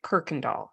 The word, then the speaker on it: Kirkendall: gonna try uh well we pronounce it Kirkendall as if there's an R okay not everybody who spells it that way does so I'm not saying there's a right way or a wrong way though my husband would I am I'm just saying that's how we pronounce it but I get